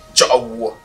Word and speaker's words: Tchaoué: Déjà en féfé, Tchaoué se prononce Tchaoué.